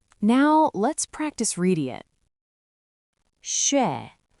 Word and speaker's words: 血: 血血血写写写. So, how do we pronounce this word?